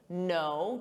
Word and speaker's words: know: K, knit, silent K, know, to know, sounds exactly the same as know.